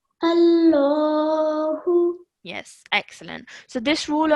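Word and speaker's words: الله: So as you can see, the alif has a fatha. So when you say this word, you would say it with a thick and heavy sound. So you would say Allahu. Allahu.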